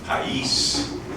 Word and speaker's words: Pais: then they begin in Pais, our new building, accent on the I, what did the French ever do for us, or whatever.